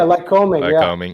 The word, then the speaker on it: Lycoming: So I know you talked about coaching at how do you pronounce it? Lycoming? Yeah, Lycoming.